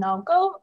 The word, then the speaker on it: Naoko: So hi, I'm Naoko, and it's pronounced the way it is written on the screen.